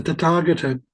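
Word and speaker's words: Tathāgata: Notice that it's not tatagata like some would say, but that there's a long a on the second second vowel. So it's tataga. The second a is lengthened.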